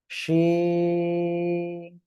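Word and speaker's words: شين: ঠিক আছে, 3 আলিফ টান হবে, শিন। শাসা শব্দ করে অক্ষরটা উচ্চারণ করতে হবে, তাই নাহলে কিন্তু অক্ষরটা সঠিক হবে না।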